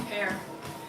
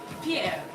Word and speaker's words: Pierre: used to call him fair because I couldn't see Pierre you have to roll the R's you know Pierre how many of you